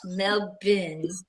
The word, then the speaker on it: Melbourne: Melbourne. You have to say it like that. Melbourne.